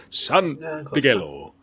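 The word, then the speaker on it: Santangelo: Santigello? Santigello.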